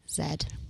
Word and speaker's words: Z: I learned today that when it comes to the UK and British pronunciations, I didn't know that the letter How do you say the letter Z? zed Wow, where did that come from?